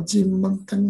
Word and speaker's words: Cimenteng: Cimenteng apa Cimenteng apa? Kalau kurang, bacanya gimana ini, Mbak Vera?